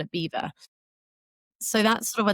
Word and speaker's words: Belvoir: decided to call it Beaver. So that's sort of where the name originates from. reason why, you know, it it definitely doesn't um it's not said how it's spelled, but Beaver's just got a long litany of fascinating history.